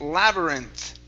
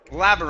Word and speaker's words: labyrinth: hallway very good uh this word here is pronounced labyrinth labyrinth latherings labyrinths good much better uh this word